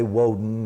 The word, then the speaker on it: Woden: was Tuesday Tommy's day Odin was Wednesday Woden is how they pronounced it so it ended up